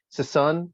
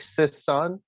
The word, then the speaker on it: Sissonne: I think the proper pronunciation, if you were a ballet type person, is Sissonne, like Sissonne.